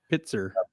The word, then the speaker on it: Pitzer: Oh, Mrs. Harper says you're correct with your pronunciation. Well, it's only took like 3 months for me to remember their last name, Pitzer.